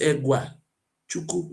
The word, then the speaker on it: Oguachuku: Look at the place called Oguachuku. And people continue to confuse what is going on. They don't say I pronounce this. So the pronunciation is Egwa Chuku.